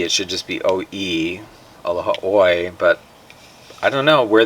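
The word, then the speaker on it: Aloha ʻOe: They say it all sorts of ways, but very seldom do they actually say aloha oi.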